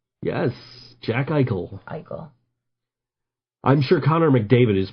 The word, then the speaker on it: Eichel: Eichel is how you say it? Jack Eichel, yes. It's a word with consonants that don't look like they should be there. Yes, Jack Eichel. Eichel.